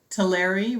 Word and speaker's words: Tulare: Tulare rhymes with dairy.